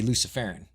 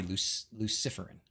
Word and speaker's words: luciferin: setup and use luciferum I used to say luciferon but everybody told me I was saying it wrong so now I gotta say luciferin I still like Hyperion